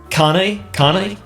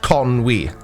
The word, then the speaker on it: Conwy: Judging by the W thing, Connie? Conwy. Okay, so you actually do pronounce the W. Sometimes, which we'll get to in a minute. Conwy. That's pronounced Conwy.